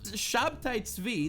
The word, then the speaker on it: Shabtai Tzvi: Jacob Frank, some random fucking Jew in the 1700s who claimed to be a reincarnation of Shabtai Tzvi, that's his Hebrew pronunciation, a guy who, by the way, every single Jew remembers him as a bad guy.